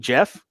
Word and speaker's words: Geoff: I did, and he was as a guy named Geoff with a G who pronounces it soft J.